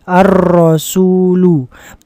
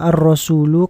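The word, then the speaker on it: الرسولُ: Tepat sekali arrasulu. Mengapa dibaca ee apa namanya? Ee arrasulu. Karena di ee awal ini ada alif lam. Maka di akhirnya harus dibaca dhammah.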